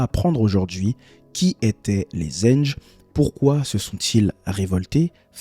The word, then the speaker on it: Zanj: Je vous remercie parce que dans la première dans le premier documentaire, je disais la révolte des anges. Je disais les anges et c'est les zenges. On va apprendre aujourd'hui qui étaient les zenges, pourquoi se sont-ils révoltés ?